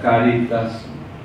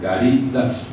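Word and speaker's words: Cáritas: Al de Caritas, la palabra Caritas, algunos pronuncian mal, dicen Caritas, no son Caritas, es Caritas, una palabra latina que significa amor, caridad, ¿verdad?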